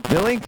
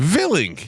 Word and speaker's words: Willink: Willink. Jocko Willink. Villink. Yeah, It's Willinick. I believe it's He's pronounced.